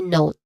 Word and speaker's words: note: So which means here that the letter e in the spelling is a silent letter. We do not say not but we say note.